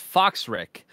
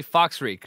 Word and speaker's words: Fox Ric: from us all also my name is pronounced Foxx Rick because Michael can't speak thank you it's Fox Rick did I say that right the first time or did I say Fox reek or something I don't know